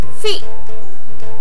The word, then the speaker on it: फी: लगाएंगे तब वह बनेगा फी। बच्चों, जब हम किसी अक्षर पर छोटी ई की मात्रा लगाते हैं तब उसका उच्चारण खींचते नहीं है, हम कहते हैं फी।